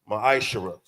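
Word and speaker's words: מעשר: It means 10th in the Hebrew. It's pronounced maishara.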